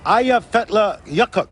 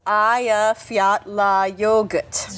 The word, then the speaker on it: Eyjafjallajökull: The glacier is called Eyjafjallajökull. Eyjafjallajökull. Just think of, "Hey, you forgot your yogurt." No, I've got it. I've got it. So, in 2010, the Eyjafjallajökull Eyjafjallajökull Eyjafjallajökull Eyjafjallajökull.